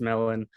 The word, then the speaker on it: MLLN: it's it's on instagram if you see it's like mlln um it's pronounced melon and so it's like